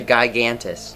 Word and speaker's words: Gigantis: the guitar the gigantis the gigantis sure is not a soft g also it is a